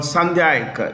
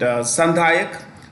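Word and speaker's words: Sandhayak: Comm this um class of ships is called sandak you could write this yeah Sak Sak class s a n d h a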